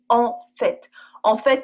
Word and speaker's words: en fait: With En fait, we also always pronounce the t. En fait, tu avais raison !